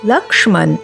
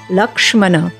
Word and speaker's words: Lakshmana: the text is written to the best of our ability we will try to adhere to Sanskrit or sanskritam pronunciations so one you may hear the word lakshman in Ram charit Manas